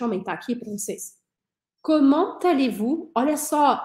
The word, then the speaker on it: Comment allez-vous: Comment allez-vous? Olha só, eu vou pronunciar esse T do comment porque a próxima palavra começa com vogal. Mesma coisa que a gente viu no vous appelez, né?